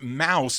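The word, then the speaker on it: Maus: It's pronounced mouse, but it's spelled M A U S.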